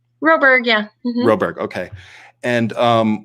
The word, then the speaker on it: Roberg: Roberg, yeah.